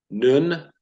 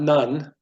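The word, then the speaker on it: נון: mem as in mom noon but not none but noon noon Joshua Ben noon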